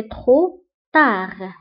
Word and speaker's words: trop tard: بالنسبة لترو كنكتبوها بالتي في آخر الكلمة ميم سي ما كنطقوهاش ولكن كنكتبوها، وايضا تا كنكتبوها بالدي في اخر الكلمه ميم سي ما كنطقوهاش دونك كنقولوا سي ترو تار انا اعتمد عليك فالا